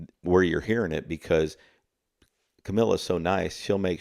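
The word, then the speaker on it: Kamila: Camila. I always pronounce her name the way I want to. We I always say Camila.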